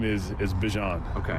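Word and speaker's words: Bijan: So now it comes out and it's like okay no it's back to being Bjon after he told everyone he wanted to be Bjon.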